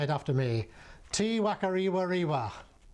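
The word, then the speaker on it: Te Whakarewarewa: Tiwakariwa. The unpronouncable name on the notice board is usually shortened to T Werewa.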